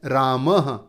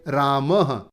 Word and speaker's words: रामः: और इसका उच्चारण लगभग ह के जैसा होता है, जैसे अंत में दिया है रामः। तो ये जो विसर्ग हैं इन्हें ह के जैसे बोलेंगे। क्या बोलेंगे? रामः। तो ये थे अयोगवाह।